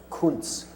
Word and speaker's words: Kunz: her name is pronounced Koontz that's the german word for art and it's unbelievably appropriate